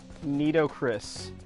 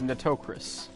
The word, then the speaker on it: Nitocris: Nidocris. Yes, that is how it's pronounced. Nidocris-chan. No, I'm gonna have to ask you to stop right there. It's Nitocris. Got it.